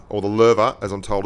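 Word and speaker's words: Löwe: The Louver, or the Lerva, as I'm told it's pronounced, has 1860 DPM.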